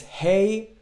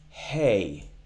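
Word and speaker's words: ה: kamat or kamat the the difference is when we pronounce hey we exhale a bit more we get some more air to come out of our throats as opposed to ALF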